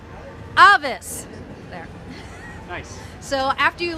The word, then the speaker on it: Avis: And he's going to tell us how to pronounce the spell, which is Avis, so we're going to say it. 3. Avis!